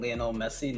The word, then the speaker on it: Lionel: I like it to be pronounced Lionel, so like as in Lionel Messi, not Lionel Richie.